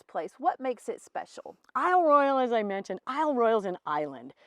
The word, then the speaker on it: Isle Royale: I love Royale and if we were honoring the way the French would say it would be eel Royale but it's definitely been